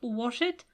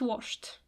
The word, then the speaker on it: washed: It's not wash it, it's washed.